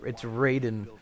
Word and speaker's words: Raiden: material protects against a wire hey they are mispronouncing his name yeah it's raiden god of thunder it is referred to as